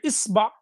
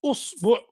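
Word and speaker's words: إصبع: Il y a 10 façons de dire isba. Tu peux dire isba, ou usbu, ou asba.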